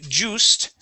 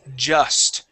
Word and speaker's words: just: Instead of saying just, the word has a short U sound. The word is just.